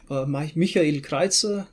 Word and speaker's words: Michael Kreitzer: Here we have Michael Kreitzer, Michael Kreitzer, German pronunciation.